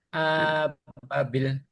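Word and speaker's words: أبابيل: Wa arsala alaihim toirun ababil. Ababil. Bilnya panjang.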